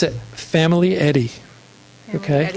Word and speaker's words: Famiglietti: My last name is, we pronounce it Famiglietti.